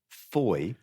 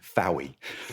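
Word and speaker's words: Fowey: refers to Manderlay and Fouy. No, I'm afraid so. It's foy to rhyme with joy.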